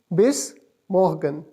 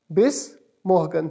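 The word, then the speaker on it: Bis morgen: ओ एस को pronounce किस तरह करेंगे? बेस मोहगन। बेस मोहगन।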